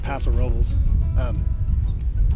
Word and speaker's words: Paso Robles: It's pronounced Paso Robles.